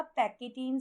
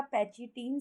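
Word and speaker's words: pachytene: Next stage आती है बेटा पैकेटीन स्टेज या पैचिटीन स्टेज भी हम इसको प्रोनाउंस करते हैं।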